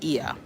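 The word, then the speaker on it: Oia: a and I think a lot of people mispronounce it it's eia but no I'm already working with um shore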